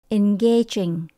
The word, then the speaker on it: engaging: hoặc là lôi cuốn chúng ta nhấn âm số hai in gaging engaging để cho việc học